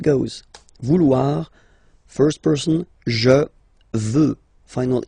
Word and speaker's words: veux: Vouloir, first person, je veux. Final X not pronounced. Je veux. Tu veux. Final X not pronounced, the same form.